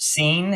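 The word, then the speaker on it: Sin: Israel moved moved on from the Wilderness of scene by stages according to the Commandment of the Lord and camped at redim but there was no water for the people to drink again pronounced scene if you look at your Hebrew concordance uh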